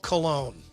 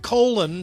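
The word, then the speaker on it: Colón: Never forget the headline machine that was Barlo Cologne. God, remember him? Oh man, he pitched forever. He was fat and he just But he the the fact that his name was Cologne, but it's spelled like colon.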